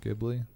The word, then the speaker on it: Ghibli: The studio fuck, what's the actual pronunciation? Ghibli.